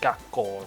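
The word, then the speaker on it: 学校: Because like gakko, right, Yeah. is like gaku ko, but Yeah. obviously you don't pronounce the ku.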